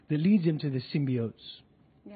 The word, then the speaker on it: symbiotes: leads him to the symbiotes. Yeah. Did I say it right? Yeah. That's right, yeah? Yes, that was symbiotes.